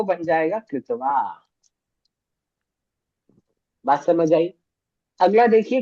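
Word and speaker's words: क्त्वा: कत्वा प्रत्यय। कत्वा त्वा प्रत्यय क क्या है आधा है और शब्द के स्टार्टिंग में है तो उसका उच्चारण प्रॉपर नहीं आ पाता इसलिए उसको हम पढ़ेंगे त्वा प्रत्यय ठीक है अब आपको कुछ भी नहीं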